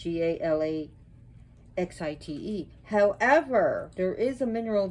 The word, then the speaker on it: Galaxyite: quebec canada as galaxies and that's what he called it gala x-ite however there is a